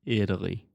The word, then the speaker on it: Italy: Think about this as a D sound. Italy.